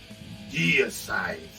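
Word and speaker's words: Deicide: Así como Glenn Benton, que le preguntan ¿cómo es Side o Dayside? Y él dice Deeside, se escribe Dayside.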